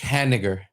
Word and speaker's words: Haniger: Like Hani Ger. I don't get it. Well, he just when the announcers would say his name was Mitch Haniger. His last name is basically the N word. Ha. N word. Oh. Oh, I got like vinegar. Yeah, like that.